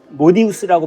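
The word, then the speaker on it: modius: 머리 위에 뭘 썼는데 이게 뭔가 이건 모디우스라고 발음하거든요.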